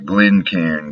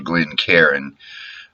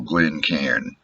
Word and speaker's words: Glencairn: Glencairn glass you see some people on YouTube calling it a Glenn Karen and that's like saying that you're flying on an airplane it's one syllable Glen cairn that Scott would probably say something like didn't care but I'm not Scottish although some of my ancestors were I'm a Texas boy and it's Glencairn now if I were pouring